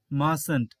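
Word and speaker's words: mustn't: বলা হয় wouldn't wouldn't মাস্ট note কে বলা হয় মাসেন্ট মাসেন্ট এখানে কিন্তু টি সাইলেন্ট থাকে মাসেন্ট এরপর দেখো নিড নোট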